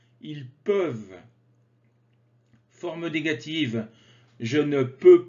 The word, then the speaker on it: peuvent: Nous pouvons, vous pouvez, ils peuvent, peuvent. Attention, le ENT ne se prononce pas. Ils peuvent.